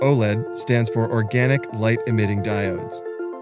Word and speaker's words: OLED: OLED or OLED (Pronounced: 'Oh-Lead') stands for 'Organic Light-Emitting Diodes'.